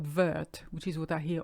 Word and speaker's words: vert: followed by RT plus you don't pronounce your last T you hardly ever pronounce elasti to be honest so they're not vert which is what I